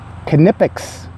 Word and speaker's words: Knipex: Love, love, love my Knipex. And I believe, yes, you do pronounce the K.